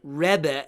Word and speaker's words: Rebbe: It means that they're pronouncing it that way on purpose, because that's sort of a Hasidic pronunciation of rabbi.